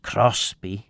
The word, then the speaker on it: Crosby: Uh and that would be pronounced Crosby in in uh certainly all the old monks speakers all the old mans people that I know talked about Crosby.